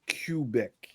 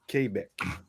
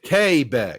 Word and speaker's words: Quebec: But in French, Q is like a K for pronunciation.